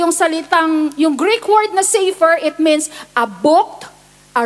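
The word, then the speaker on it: ספר: that is used here is safer okay it's pronounced as safer it means a book Okay not take note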